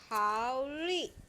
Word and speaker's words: 考虑: 考虑 Oke, cara bacanya kaulu. 考虑 Ya, kaunya 3 ya, lu-nya 4. Tapi pas baca lu, mulutnya begitu. Lu. Ya, teman-teman bisa lihat layar ya.